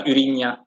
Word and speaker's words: Urania: It's pronounced in Dutch, Urinia.